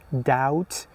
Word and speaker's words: doubt: Doubt death. Sometimes you say, "Do you doubt me or do you have doubts?" These were some examples that the B letter was silent in them.